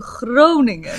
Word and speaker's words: Groningen: I was like, I will make that into Groningen.